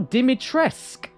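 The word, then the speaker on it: Dimitrescu: you say it guys oh dimitressk oh so the you is silent ah oh hi ryan how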